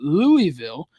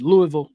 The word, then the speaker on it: Louisville: Coming off of the home overtime win against Florida State, they now have to travel to Louisville or Louisville.